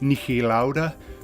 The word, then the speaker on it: Niki Lauda: Now that's how we would pronounce it in Australia, but I would say Niki Lauda, being of Austrian heritage. And I don't mean that in stirring in any way, that's just how I would have pronounced it.